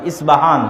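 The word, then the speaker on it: Isfahan: আছে আমরা পচ্চারণ করি ইস্পাহান আরবিতে এটা উচ্চারণ হয় না আরবিতে হয় আল আসবাহানি বা উচ্চারণ হয় ইসবাহান বাসবাহানি সেখান থেকে 70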